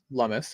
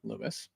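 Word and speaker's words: Lummis: And I've taken the time to to realize her last name is pronounced Lumis and not Lumis.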